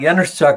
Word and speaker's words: Januszczak: by waldemar januszczak now waldemar yanuzchak is a polish origin and yanuzhak is spelled j not a so j a n u s z c z a k baltimore instead was